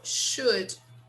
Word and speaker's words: should: Like, for example, the other word, we never pronounce the L. Should.